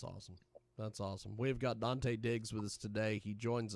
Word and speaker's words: Dante Diggz: Dante Diggz. That's DanteDiggz, which it sounds exactly like you'd spell it.